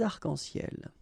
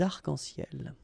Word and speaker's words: arcs-en-ciel: Okay, you can see that as usual we don't really pronounce this final S, so phonetically it's almost the same, but then we've got this liaison between the two, des arcs-en-ciel. Okay, second situation, un nom